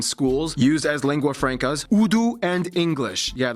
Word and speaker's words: Urdu: used as lingua francas, Urdu and English. Yeah, that's right, it's pronounced Urdu, not Urdu.